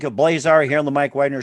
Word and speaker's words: Blazar: as well too once again jared fink of blazar here on the mike wagner show very multi-talented